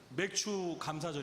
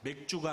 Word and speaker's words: 맥추감사절: 주님 안에서 사랑합니다 오늘은 맥추감사절 입니다 발음을 잘 하셔야 됩니다 맥주가 아니라 배추 입니다 맥주 마시면서 감사하는 날이